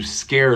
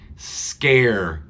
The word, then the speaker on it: scare: them to scare someone scare scare thank you scare not scar not scar air listen it changes the sound it goes air scare so it's not scared scare if I scare or